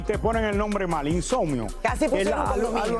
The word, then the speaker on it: Insomnio: El nombre del álbum se llama Insomnio. Insomnio. Ah, Insomnio. Aquí me dijeron que era Insomnio. Es que, bueno. Bueno, Raúl, ¿qué lo te puedo escribieron decir mal. si aquí te ponen el nombre mal? Insomnio.